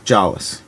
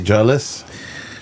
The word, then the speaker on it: Jolles: How do you say your last name exactly? Joll. Cuz people mispronounce them constantly. Constantly. Yeah. Yeah. Yeah. What do they say? Jawless. Joles. Jollies. Hoy. Um. Yeah. Those are kind of the big three.